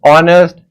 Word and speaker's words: honest: It will be noticed that the words our honest air begin with a vowel sound as the initial consonant h is not pronounced.